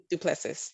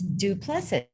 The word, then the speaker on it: Duplessis: Duplessis, I'm sorry. You were almost there. Thank you. It's Duplessis. Duplessis.